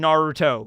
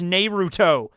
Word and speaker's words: Naruto: it's like this YouTuber was really was mispronouncing Naruto he says nuto I have no idea